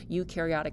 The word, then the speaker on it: eukaryotic: So remember, with eukaryotic cells, euc rhymes with nuke, they have a nucleus, they have organelles, they are way more complex than our unicellular prokaryotes.